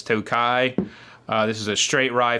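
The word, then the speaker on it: Tokaji: a Tokai finish uh it's spelled to Kaji but it's Tokai this is a straight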